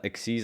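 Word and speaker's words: XYZ: the x y z's how do you pronounce that x's is that what it is uh exes i guess is technically the term yeah yeah so i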